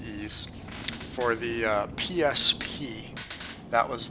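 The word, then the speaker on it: Ys: seven e seven not not real sure how to how to pronounce that but i think it's pronounced ease for the psp that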